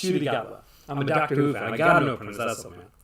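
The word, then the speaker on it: Ncuti Gatwa: Pronouncing the new doctor's name, Shudigatwa. That's it's pronounced Shudigatwa.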